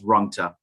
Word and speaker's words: Rungta: I'd just like to share with me, is it Rogta? Did I pronounce that correctly, sir? Yes, that's right. It's Rungta.